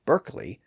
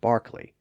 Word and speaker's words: Berkeley: in standard British English the same thing happens with the towns that Americans call Derby and Berkeley but Brits call Darby and Barkley or Derby and Barkley without the r sound again the spellings are